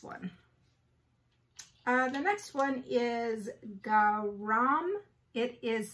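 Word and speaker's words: Gharaam: The next one is GHARAM. It is spelled G-H-A-R-A-A-M. GHARAM.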